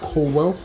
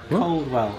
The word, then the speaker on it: Coldwell: me I've promoted cwell how are you Coldwell again where you say cwell coell yeah you know pronounce the d Carwell Kanan that's it